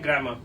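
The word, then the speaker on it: grammar: सो इसका आर हल्का सा साइलेंट रहता है तो उसको ना ही पढ़ेंगे तो भी ठीक है। सो हल्का पढ़ना है ग्रामर।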